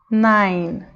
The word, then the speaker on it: nine: palavra acaba no V mesma coisa acaba no n então a pronúncia fica assim name five nine Ok bom vamos entender